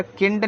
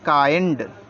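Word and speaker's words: kind: लेते हैं आई बराबर आई बराबर आई भी उच्चारण देता है इसके शब्द हैं के आई एन डी तो यहां पर किंड नहीं है अब इसको किंड नहीं पढ़ेंगे इसको पढ़ेंगे काइंड काइंड एफ आई एनडी आप यहां पर पैटर्न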